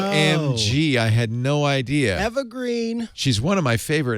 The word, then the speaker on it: Eva Green: Eva my name is evergreen ever sorry wait a minute wait a minute it's pronounced evergreen oh no Angie I had no idea evergreen she's one of my